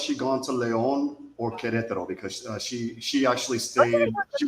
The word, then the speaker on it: Querétaro: And the other one, how do you say it, Warren? Querétaro. I can't say it. Querétaro. Querétaro. Querétaro.